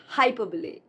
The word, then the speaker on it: hyperbole: It's not hyperbole, but hyperbole. Hyperbole.